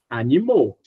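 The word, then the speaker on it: animaux: Então, animal, animou, animal singular, animou plural.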